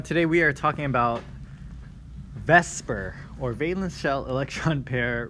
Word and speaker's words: VSEPR: We just pronounced it Vsepr, but it's V-S-E-P-R.